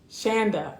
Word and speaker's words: Shonda: Shonda like panda. Shanda. Okay. So Shanda rhymes with panda.